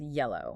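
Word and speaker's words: Y3LL0W: And just a quick note for the uninitiated that is spelled Y3 LL0 W but it is pronounced yellow. Right. Like the color.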